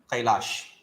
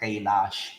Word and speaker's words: Kailas: shiva's place is a kailash what is that a kailash read it properly it is not kailash it is kailas we are making a